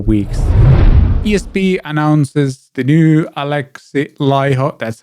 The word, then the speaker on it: Alexi Laiho: sun for four weeks esp announces the new alexi lyho that's how you pronounce it it's not alexi leo it's alex learn to pronounce as thins do